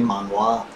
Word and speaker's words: manhwa: It's actually manhwa.